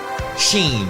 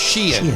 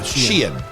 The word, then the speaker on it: Shein: Full disclosure, I thought this business is pronounced Sheen, but it's pronounced Shein. Yeah, Shein.